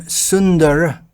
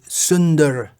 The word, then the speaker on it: Sunda: If you put the spelling in English, then Sundar is spelled Sundara, and Sunda is spelled Sunda. There's an Ra at the end of the first. It's a different meaning, and it's differently pronounced.